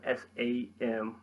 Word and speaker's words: Samhain: Samhain, spelled S-A-M-H-A-I-N, pronounced Samhain, comes from the Irish Gaelic meaning summer's end.